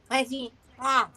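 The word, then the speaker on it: petits pois: What's when you say petit pois, you've got to say it so you've got blocked nostrils. So you've got to say petit pois.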